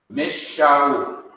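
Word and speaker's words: משאול: To compensate for the loss of a letter, the letter that comes right after, which is Shin, has to be doubled or repeated. Mish Shaul from Saul.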